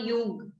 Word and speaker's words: Jung: Meher, Jung. J is silent. It's called Jung.